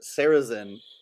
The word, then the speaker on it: Sarrazin: he's a con man in this, and he shows up, the Michael, I can't pronounce his name, is it Sarrazin? Plays Curly. Sarrazin sounds correct.